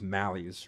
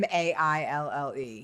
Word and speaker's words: Maille: I think it's Mally's or something. Maille. Yes. I have it in my fridge. The whole grain Yep, one? That's the one. That's the one I use, It's French. right? It's pronounced Maille.